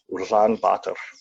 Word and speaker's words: Ulaanbaatar: The capital city is pronounced Ulaanbaatar. I don't think I say it properly still. I think rolling the R is kind of hard for me.